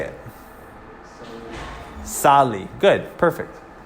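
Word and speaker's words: salí: However, the accent mark is on the I, which means you disregard these first rules and you say the accent on the I, even though it's not the second to last.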